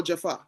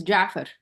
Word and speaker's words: Gaafar: Is it Gaffa or Jaffa? It's Jaffer. Jaffer. Okay.